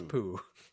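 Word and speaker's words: Pugh: Is it pronounced Poog or Pug? Florence Pug? Florence Pooh. Pooh.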